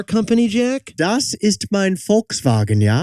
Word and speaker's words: Volkswagen: Das ist mein Volkswagen, ja? As in Volkswagen with an F. It's a V pronounced like an F.